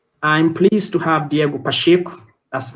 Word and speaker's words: Pacheco: Going back to today's session, I'm pleased to have Diego Pacheco. That's right. The correct Portuguese pronunciation of his last name is Pacheco, not Pacheco, which is Spanish.